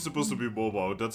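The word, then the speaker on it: Mawile: I went to YouTube and looked up someone pronouncing it. Oh my god. I'm pretty sure it's supposed to be mobile.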